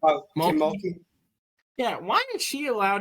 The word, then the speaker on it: Mulkey: Why is Kim McKee? How do you pronounce her last name? Oh, Kim Mulkey.